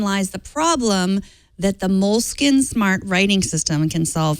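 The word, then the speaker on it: Moleskine: else before we realized they were in fact pronounced moleskin like the rodents the moleskin smart writing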